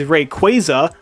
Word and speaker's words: Rayquaza: to awaken the legendary rayquaza i know the correct pronunciation is rayquaza like a quasar but i refuse to pronounce it like that rayquaza is the ancient legendary